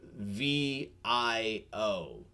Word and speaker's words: Vio: uh oh a question are you saying bio like biology or vio like sony vaio spelled like v i o so uh yeah so it's it's like like bio but with a v so vio vapor dance